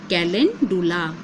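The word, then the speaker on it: calendula: जहां आपको मिल जाए तो मैं आपको इसकी स्पेलिंग बता दूं सी ए एल ई एन डी यू एल ए कैलिन डूला तो इस प्लांट के बारे में आप अगर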